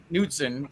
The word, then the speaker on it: Knutson: Or David Knutson. He doesn't pronounce the K, but at least the last name was spelled correctly. But he just didn't pronounce the K, which is fine. It's acceptable.